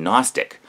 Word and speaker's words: Gnostic: My question is this: why is the G silent in Gnostic, but is pronounced in agnostic?